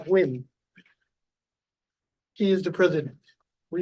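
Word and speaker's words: Huynh: hu y NH H and he said it's pronounced wiim he is the President we have no changes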